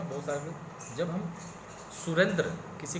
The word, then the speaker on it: सुरेंद्र: सुरेंद्र को सुरेंद्र ना बोल के हम सुरिंदर बोलते हैं, तो निश्चित रूप से हम लिखेंगे भी सुरिंदर ही। तो ये गलत है ना।